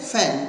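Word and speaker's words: feign: Next word है फैन इसको बोलते हैं फैन जी साइलेंट रहता है फैन हमेशा बहाना बनाते हैं बहाना बनाते हैं।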